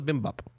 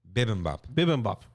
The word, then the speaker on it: bibimbap: pronouncing that correctly but i think it's called the bimbap bibimbap there you go and it came in